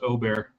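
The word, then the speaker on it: Åberg: No, you do not say the G. It's Aubert. Just Aubert.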